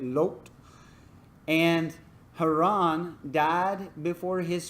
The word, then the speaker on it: Lot: Lot is actually how you say it. Lot.